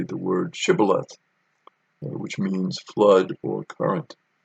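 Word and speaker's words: shibboleth: to say the word shibal which means flood or current uh when they did not give the proper pronunciation they left out the sh sound the gileadites would kill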